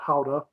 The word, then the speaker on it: Gouda: course you know in in the us we pronounce it gouda when i believe in holland they pronounce it howda but uh you know